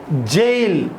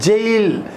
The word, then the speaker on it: gaol: GAOL, jail. Yes, we need to pronounce it as jail.